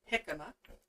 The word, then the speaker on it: jicama: that we use okay so this is a jicama as you see let me see if i can get it to focus on that anyway it is spelled j-i-c-n-n-a and that's pronounced jicama and like i said it's a nice crispy